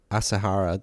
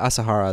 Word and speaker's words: Asahara: by shoko as okay you want to try pronouncing any of these words better than me um shrio shoko asahara that yeah asahara that makes sense shoko asahara yeah he got